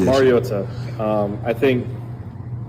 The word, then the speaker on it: Mariota: Like what is the right pronunciation? Mariota. Um I think it's been said over the years like Mariota. Um which is incorrect and it's pronounced Mariota.